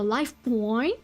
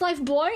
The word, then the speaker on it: buoy: day, still wearing the life buoy and was... I'm so sorry. Why am I doing this? It's pronounced life boy.